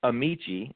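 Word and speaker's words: Amichia: We're going to start with Kofi Amasia with the Packers. Kofi, it's Amici is how you pronounce it, and he's actually gearing up for training.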